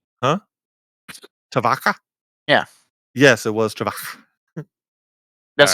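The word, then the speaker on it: Tyvokka: that's what I said is that right huh tavaka yeah yes it was that's the only really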